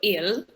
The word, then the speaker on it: ils: Ils. Mm-hmm. Il, you don't pronounce the S, okay?